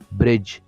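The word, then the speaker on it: bridge: کوي تاسې صحیح ده دلته نه تلفظ کېږي برج ویل کېږي ډي نه ویل کېږي دلته زیاتره زده کوونکي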